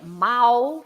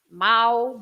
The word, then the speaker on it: mau: Then you also have the A and the U together, which is au, like in the famous bacalhau, right? Of course, the bacalhau. Most. Or the word mau for bad, mau, bacalhau. So this au is the, au, the sound au all the time.